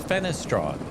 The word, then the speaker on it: Fenestron: Three, three syllables. Fenestrong.